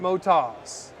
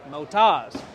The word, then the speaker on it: Motoz: We have Motas, we have Moto Z, we have Motos. What is the actual name of your tire? The actual name, it's an Australian company. Yes, sir. They pronounce it Motas. Motas.